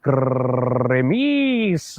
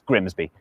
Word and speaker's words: Grimsby: But what if we told you it was pronounced Grimmies? We'd be lying. It's Grimsby.